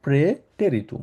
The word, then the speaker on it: Präteritum: যেহেতু এখানে এ আছে এর উপরে উমলা আউট আছে। সাধারণত আমরা আ বলি। আ এর উপরে যদি উমলাউট থাকে সেটাকে আমরা এ উচ্চারণ করি। ওই জন্য প্রে টেরিটুম আমরা বলে থাকি।